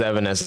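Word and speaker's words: Evanescence: too late like honestly I never knew that it was Evan Essence and I just it's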